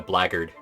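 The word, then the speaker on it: blackguard: class in there somehow the blackard yes it's spelled Black Guard but it's pronounced blaggard that's a weird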